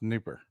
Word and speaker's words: Dnieper: It's spelled Dnipro, but it's pronounced Dnieper.